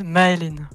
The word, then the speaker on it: Maylin: Is it how do you pronounce it again? So her name is Maylin.